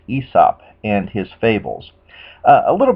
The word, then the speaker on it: Aesop: guy named esop or in america it was pronounced aesop but properly pronounced esop and his fables a little bit of background